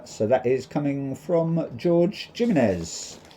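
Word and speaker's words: Jorge Jiménez: So that is coming from George Gimens or Ho Gimenez as people like to pronounce it.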